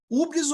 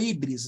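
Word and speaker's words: hybris: um termo para isso que é húbris eu não sei se vou falar desse termo se escreve H YBR S procure depois no Google Uber ou híbris né mas o Rubens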